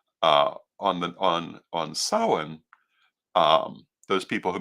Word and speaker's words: Samhain: The Celtic pronunciation is Soen or Samhain or Samhain.